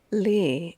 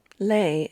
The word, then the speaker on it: Lee: Lee is the English way to say his name. Lei is the Cantonese way.